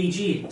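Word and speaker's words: e.g.: so uh actually it's some people say EG some people just say for example it's even for speaking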